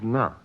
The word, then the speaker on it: на: But in the phrase on the table and on the divan, you don't seem to pronounce it as na, but as n. Yes. Na is a preposition, and prepositions usually aren't stressed, but are pronounced as part of the following word. Hence, na is reduced to n, just as the sound do at the beginning of Dostoevsky is reduced to d.